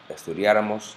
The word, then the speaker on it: estudiáramos: And it's pronounced estudiara, estudiaras, estudiara, estudiáramos, estudiarais, estudiaran, o aprendiera, aprendieras, aprendiera, aprendiéramos, aprendierais, aprendieran. Note that the nosotros form of the past subjunctive always has a written accent mark.